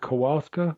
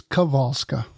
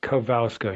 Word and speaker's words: Kowalska: Is it Kowalska? Uh actually it's Kavalska. Kavska. The W is a V and right. So St. Fina Kavalska.